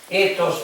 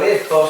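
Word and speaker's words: ἦθος: Está traspasada del griego y decíamos nosotros ethos o ethos, se pronuncia la TH en griego, sería como suena como la zeta española.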